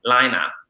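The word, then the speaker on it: Laine: creators, Cindy and Yana, pronounced Lina, because it is Finnish. What? But yes. I think Lane, like Maine, is French. Is that correct? Yes. Yeah, same word. It's a loan word from French into all of the Nordic languages. It still means wool, but it is pronounced Lina.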